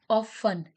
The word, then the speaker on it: often: Often. T is a silent word.